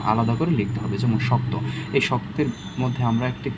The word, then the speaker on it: শক্ত: যেমন থাকতে পারে যে এই শক্ততে শক্ত, শক্ত কতে ধাক্কা খেয়েছে, তাই আমরা কি কয়ের নিচে হসন্ত দিয়েছি।